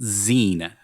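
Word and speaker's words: Zene: point it's the toilet of films edited by Zen Baker that's how you pronounce it Zen Z NE I looked it up Zen like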